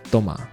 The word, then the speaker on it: Thomas: Is it No, it's Tomma. Isn't that how they say it in French?